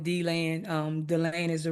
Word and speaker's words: DeLand: Did she say D-Land or DeLand? I call it D-land, but it's dead land, really.